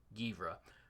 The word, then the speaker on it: Geimhreadh: Givra. I asked the Celts. I have no idea. I literally had to put the pronunciation guide behind his name so I'd know how to say it.